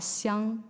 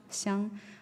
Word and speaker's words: Xiang: And the next one is XI. It's pronounced as she. So when it's in putting names, it's called xiang, the first one. Xiang.